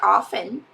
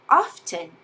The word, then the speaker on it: often: The same way you can say often or you can say often. Both pronunciations are correct.